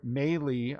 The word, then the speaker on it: Mahle: Xander Bogaerts for the Red Sox, Tyler Mahle, I think was how I was told it's pronounced, for the Reds, and Dylan Betances for the Mets.